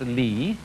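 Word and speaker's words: 理: world do you remember this word which is pronounced li and which had as its original meaning the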